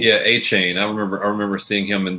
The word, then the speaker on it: Achane: Yeah, Achane.